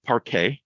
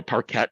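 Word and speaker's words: parquet: um this uh file format par or parette if you want to pronounce it that way um uh is a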